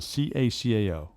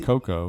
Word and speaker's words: cacao: do you pronounce the ca ca oh it's not Coco it's cacao cacao cacao nibs cookout what's a